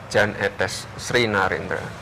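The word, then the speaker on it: Jan Ethes Srinarendra: Yan, Jan, atau apa? Etes, Sri Narendra. Yang betul bagaimana? Jan Etes Sri Narendra.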